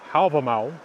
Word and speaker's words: Hávamál: on a tree in hobble mall stands us 138 to 139 now the poem problem all or is pronounced in modern icelandic album owl is something that I